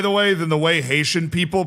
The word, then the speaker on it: Haiti: There is nothing cooler, by the way, than the way Haitian people pronounce Haiti. As somebody that has been able to interview Haitian people, like they don't say the H.